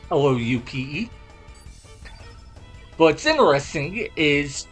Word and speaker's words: Loupe: We already have an item that does this called the Silver Loupe or Lupe. I don't know how you pronounce it. It's Loupe.